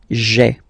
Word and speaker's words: j'ai: take this away, okay, so that you get this sound j'ai, j'ai. Okay, so j apostrophe ai. Remember, when you combine this ai, you get the e sound.